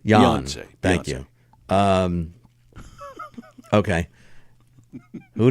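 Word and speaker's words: Beyoncé: Beyonce Beyonce Beyonce Beyonce the accent is on Yan Beyonce than you um okay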